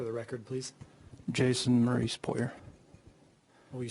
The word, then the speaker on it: Poirier: your name for the record please Jason Maurice puer will you spell that p o i r i e r